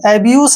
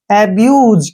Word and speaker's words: abuse: अब जैसे next word है ABUSE, एब्यूस नहीं है ये, ठीक है ना, ध्यान रखना है। ए का उच्चारण ए के रूप में हो गया, क्लियर।